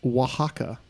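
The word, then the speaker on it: Oaxaca: correctly spell the name of the Mexican state pronounced Waka that's GNA be fun um o a x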